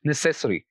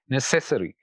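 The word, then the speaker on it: necessary: पर पुट करते हैं, और यहाँ पर आखिर से तीसरे वाला सिलेबल है से, तो यहाँ पर जो स्ट्रेस होगा हम इस सिलेबल पर देंगे और ये ऐसे प्रोनाउंस होगा, नेसेसरी, नेसेसरी, यानी से पर स्ट्रेस आ रहा है।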